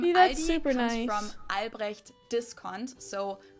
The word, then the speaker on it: Aldi: In English, people usually pronounce this Aldi. I think I've also heard Aldi before, but I think most people say Aldi. Or they also sometimes add an S that isn't there in the end and say Aldis. In Germany, we just say Aldi.